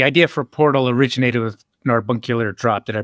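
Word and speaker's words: Narbacular Drop: Well, so um so the the idea for portal originated with Narbunkular drop. Did I pronounce it right? I too have It's a madeup word. That sounds a lot like carbuncular.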